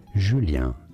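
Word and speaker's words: Julien: you say it well in French it is said as jul so A J sound and then a u sound which is very French for the letter U julan jul and then Mikel so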